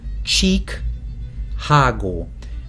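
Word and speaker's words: Csíkágó: with some friends and it's called chicago blues but not chicago it's spelled cheek hago referring to the area in transylvania um and uh anyway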